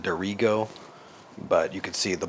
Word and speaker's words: Dirigo: I think they pronounce it duro, but you could see the box back there.